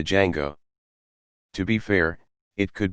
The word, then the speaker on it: Django: a little kid called django but the parents don't know that the d is silent so he's called a django to be fair it